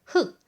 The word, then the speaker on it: 흙: 자 잠깐 예를 볼까요 흙이라는 말은 흑 단일어로 될 때는 앞 뒤에 있는 기억이 발음이납니다 하지만 그 뒤에 글글